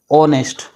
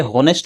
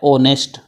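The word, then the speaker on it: honest: अब ऑनेस्ट मैन जो लिख रहा है इसका जब हम उच्चारण करेंगे तो देखो ऑनेस्ट, ये हॉनेस्ट नहीं है, इसका एच जो है ये साइलेंट है।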